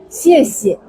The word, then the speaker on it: 谢谢: Tapi yang kedua itu bacanya nada 5. Jadi teman-teman akan paham bahwa kalau yang diulang itu biasanya yang keduanya baca nada 5. Ya. 谢谢.